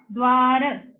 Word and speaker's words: द्वार: द्व दिख रहा है, द्वार, तो द और व, okay, we will take it here, same place. Now we'll take another example. This is dwa, the is half, व is full, द्वार, द्वार, तो इसको हम ऐसे भी लिख सकते हैं।